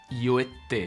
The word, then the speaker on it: Io e te: Si lo dijéramos en una frase, se pronunciaría Io e te. con la T geminada, la T doble.